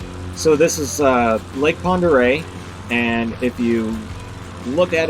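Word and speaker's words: Pend Oreille: of how it's spelled it's french it doesn't look like lake ponderay when it's spelled out but the navy actually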